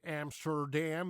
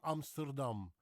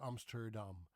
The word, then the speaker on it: Amsterdam: And I pronounce Dutch words names the way a Dutchman would pronounce it. That would be me. Okay. Amsterdam. First of all, we don't say Amsterdam in the Netherlands. Then we say Amsterdam.